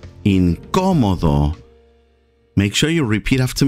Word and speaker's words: incómodo: The word uncomfortable in Spanish is incómodo or incómoda. Let's say it again. Incómodo. See where you got that little accent on top of the O? That's for emphasis. Incómodo.